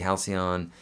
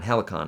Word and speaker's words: Helicon: could recommend the tc halcyon or tc halcyon line six uh tc halcyon how do you say it helicon helicon i've always pronounced that wrong helicon uh and for